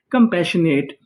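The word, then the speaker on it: compassionate: लोग क्या कहते हैं, कंपैशनेट। यहाँ पे आखिरी में ई लिखा है, हमें ई का उच्चारण नहीं करना।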